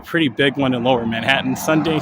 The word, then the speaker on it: Manhattan: I said, I usually say Manhattan, or like Manhattan. But AK, he'll I mean, I kind of say it like that too, but Manhattan, like MINHA''EN, Manhattan. It's just a really peculiar way of saying it, and I know that